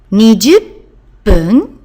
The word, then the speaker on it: 20分: 3 o'clock, sanji 20分. Remember, when we're using multiples of 10, we need to change the pronunciation to pung of minute, 20分, and then mae in front of or before.